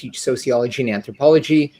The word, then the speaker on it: Ajay: I’m Ajay, is good too, I also go by [Ajai, pronounced UH-jay].